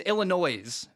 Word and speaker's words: Illinois: The way the state of Illinois spells things, the S is silent. I hate that so much. Anyway, why include the S, I guess, is my point. It's Illinois is how it's spelled,